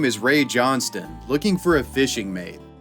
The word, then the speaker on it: Johnstone: ray johnston and i know it looks like john stone for you american viewers but it's pronounced johnston in the australian dialect 75 year